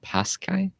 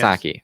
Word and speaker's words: Psaki: The previous one being, I believe, it was Miss Paskai. Oh, the current one is Psaki. Yeah, Yes. Saki.